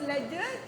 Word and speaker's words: ledger: So the spelling of ledger, Ledger, D is silent, and this book is specially kept in all the factories, all the business people, tycoons have this book.